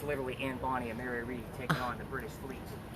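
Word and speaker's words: Mary Read: So she convinces this young lady, her name was Mary Reed, just like you read a book. That's how it's spelled.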